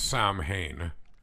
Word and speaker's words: Samhain: And I think I'm going to pronounce this wrong because I recently learned how to pronounce it correctly, but it's Samhain is the night in question.